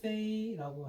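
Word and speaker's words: 飞: 그래서 날비 행자 써고 기계 기자 써서 날아서 가는 기계, 비행기 이렇게 이제 쓸 때 비행기라고 하는데, 일본 발음으로는 히라고 하고 우리는 비자를 쓰고 중국 발음은 페이라고 해.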